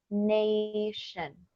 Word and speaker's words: nation: Nation, 2 sílabas. La sílaba termina en vocal. A. Bueno, A. Entonces va a ser un sonido largo. A. Nation. Pero aquí la sílaba está terminando en N.